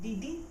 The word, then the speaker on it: didi: Note that the second syllable of Didi is a high tone.